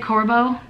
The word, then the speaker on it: Corbo: Oh, and Corbo. Is that how you say it? Corbo? Yeah, okay, you guys.